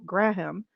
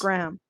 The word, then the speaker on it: Graham: used the emotional attachment between Hannibal and Will Graham. Graham? Okay. That's a really stupid mispronunciation. I apologize, guys. That's probably one of my worst. I know how to pronounce Yikes. Graham.